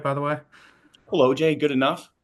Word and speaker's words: Kolodziej: Colloj. Good enough. Colloj. Uh, Pol. Is it Polish? Right. It is Polish.